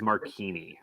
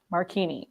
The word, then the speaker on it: Marchini: because it's the age Chris also starts with a CH and makes the same sound so Chris that'll work